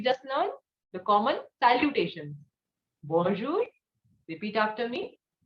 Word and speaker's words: bonjour: what did we just learn the common salutations bonjour repeat after me bonjour salute now we will study some of the